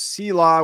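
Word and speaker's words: SELA: day uh Southeastern Louisiana also known as Sila which I have determined is the pronunciation don't care what they think it is uh they're playing Idaho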